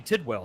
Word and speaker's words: Tidwell: My name is Tidwell. Some people call it Tidwell. Some people call it Tidewell.